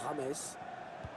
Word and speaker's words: James: Donc, il y a qu'on l'appelle juste Rames et qu'il faut surtout prononcer Rames, hein, c'est pas James, hein, comme on l'avait cru au début d'ailleurs.